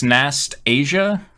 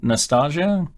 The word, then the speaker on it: Nastasia: also also apparently it's it's Nast Asia rather than this Nostalgia nostasia I think Nastasia